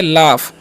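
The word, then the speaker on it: laugh: हुआ है एलय तो इस य पर जीच का उरण क्या होता है फ होता है इसे हम क्या पढ़ते हैं पढ़ते क्या पढ़ते लाफ लाफ का मतलब क्या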